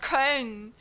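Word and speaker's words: Köln: I'm not paying I don't know how much money to go to Cologne, not Karn. You ask any German person, we're going to pronounce it as Karn.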